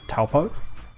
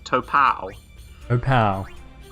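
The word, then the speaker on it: Taupō: largest lake as um as my mum famously pronounces it topal opal which is well then what next one of the ways you can just be incorrect right yeah yeah yeah it's extremely incorrect but she she has difficulty with the proper maori pronunciation so yeah yeah i don't know if it's any better or worse than just going with the lazy english version um it's definitely worse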